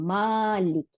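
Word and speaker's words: مالك: আলিফ বা তা আসার এই আলিফটার কোনো উচ্চারণের আওয়াজের নাই, আওয়াজ সাউন্ড নাই। এটা কি করলো? শুধু লম্বা করার, জবরটাকে লম্বা করলো, মালিক।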